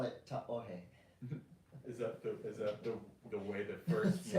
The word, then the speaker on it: Tahoe: So you can call it Tahoe, but if you want to sound like you know what you're doing, ta'ohe.